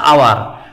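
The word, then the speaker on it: hour: তারপর এন আওয়ার, এখানে কিন্তু হাওয়ার না, উচ্চারণটা হচ্ছে আওয়ার, অর্থাৎ এইচের উচ্চারণ হনা হয়ে অয়ের মতো হয়েছে, অয়ের মতো হওয়ার কারণে সেটা ভাওয়ালের মতো উচ্চারিত হয়েছে বিধায় এটা ক্ষেত্রে এন আওয়ার হবে, এনা বসে এন হবে, এন আওয়ার।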